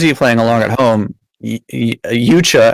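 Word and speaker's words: Yautja: Yucha, as Frank pronounced it, I thought it was Yaucha, but something like that, is the race that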